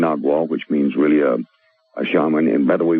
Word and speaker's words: shaman: And by the way, we say shaman instead of shame because there's no shame in being a shaman. So that's the way we pronounce it instead of shaman, although I know that's the most accepted pronunciation.